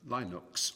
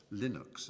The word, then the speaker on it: Linux: his name um linus it was known as linux or linux as some people pronounce it and linux is the kernel that